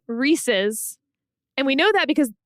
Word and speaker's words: Reese's: active aggression reesei cups Reesey cups is an act of love he pronounces them Reesey cups when it's clearly Reese's and we know that